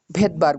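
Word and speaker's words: Svedberg: এক বিজ্ঞানীর নামের প্রথম লেটারের একক, ভেদবার্গ বলা হয়। হ্যাঁ, ভেদবার্গ বানান কি? এস ভি ই ডি, ভেদ বি এ আর জি ই, এরকম ভেদবার্গ। তো ভেদবার্গের মানে যে উচ্চারণটা সেটা এস দিয়ে শুরু হয়।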